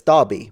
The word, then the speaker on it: Derby: it's like you will say Derby but it's Derby so like why don't you spell it with an a then siren sester stays